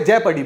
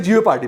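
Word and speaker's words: jeopardy: pronounce कैसे करते हैं तो उसकी प्रोनंसिएशन जिओ पाडी वहां पे जय पडी बोलते हैं ऐसे कोई कोई जिओ पार्डी भी बोलता है इसको ठीक है और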